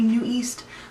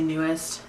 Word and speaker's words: NU'EST: I live in America I know it's supposed to be new East but I always just say newest and it's technically wrong newest is a blinker